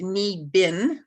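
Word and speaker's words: Niibing: so it's um n-i-iibing.ca so again it's pronounced knee bin but it's PR it's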